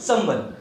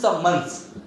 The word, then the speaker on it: summons: तो सबसे पहला हम वर्ड लेते हैं समवन। वैसे तो कहने में बहुत इजी सा वर्ड है समवन। समवन की स्पेलिंग पे जाते हैं तो SUMMONS, इसको बोलते हैं समन्स, नॉट समवन, इसको बोलते हैं समन्स।